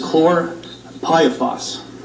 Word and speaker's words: chlorpyrifos: have with me the label and the correct pronunciations is cor pipe boss and it's very difficult to to to pronunciate